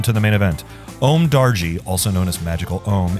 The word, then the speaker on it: Darji: It is not Om Nanji, it is Om Darji.